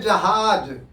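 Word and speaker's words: जहाज़: वहां पर ज के नीचे बिंदी लगा देने से वो जेड का प्रोनाउंसिएशन होता है।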